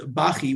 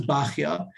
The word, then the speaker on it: Bachya: Others maintained it was Bachi, which is short for Bachiel.